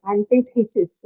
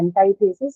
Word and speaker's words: antithesis: one uh this is antithesis okay somebody some people would say antithesis somebody would say antithesis both are correct okay anti is like an American pronunciation but antithesis is also right both are right so D antithesis or